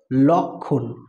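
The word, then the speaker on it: লক্ষ্মণ: কিন্তু কি হয়ে গেল লক্ষণ তাহলে এখানে আর এই ম ফলার উচ্চারণটা কিন্তু আর হলো না এই ম ফলার এই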